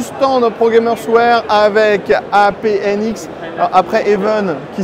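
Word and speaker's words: HAVN: ce tour du stand progamersware avec apnx après even qui s'écrit H a v n on est chez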